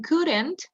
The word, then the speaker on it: couldn't: In couldn't, no pronunciamos la O ni la L. Ok, couldn't.